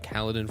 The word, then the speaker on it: Kaladin: Even though Kaladin rhymes with paladin, that was a tough choice.